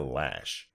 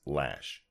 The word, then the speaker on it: Loesch: But for the record, her name is Dana Lash. I know how it's spelled, but that is pronounced Lash.